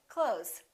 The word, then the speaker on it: clothes: two months same thing with the word close we don't really say clothes you might hear a tiny th with some people's pronunciation but most people just say clothes I bought some new